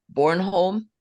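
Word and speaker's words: Bornholm: Duncan an astrologer and author who lives in Born home did I pronounce that right Adrian yeah actually perfect okay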